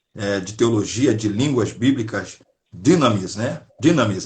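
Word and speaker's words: Dynamis: Teologia de Línguas Bíblicas, Dinamis, né? Dinamis. A pronúncia tá correta mesmo? Dinamis? Aqui, a pronúncia é Dunamis, mas tá tudo certo.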